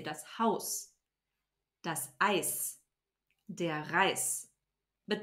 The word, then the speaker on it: Haus: And last but not least, the sound z becomes a sharp s at the end of a syllable or a word. So for example, das Haus, we don't say das Haus, we say das Haus.